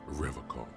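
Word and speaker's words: Revachol: pronounces Revocall with a hard K, unlike other people.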